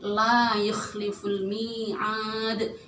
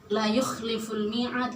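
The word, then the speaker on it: لا يخلف الميعاد: Kalau di la yukhliful mi'ad, itu la-nya panjang, ada alifnya, artinya mad tabi'i. Tapi kita kalau misalkan dibacanya la yukhliful mi'ad, la-nya nggak panjang, itu merusak arti.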